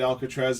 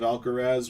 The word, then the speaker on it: Alcaraz: If a guy said Alcatraz instead of Alcaraz, would you have had